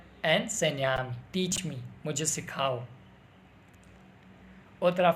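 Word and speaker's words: Enséñame: It's like we will pronounce this N like NY. Enseñame. Enseñame.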